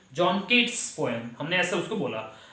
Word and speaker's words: Keats: अब ये कीट्स की स्पेलिंग ये होती है KEATS, कीट्स, और उसके बाद में हिसिंग साउंड भी आ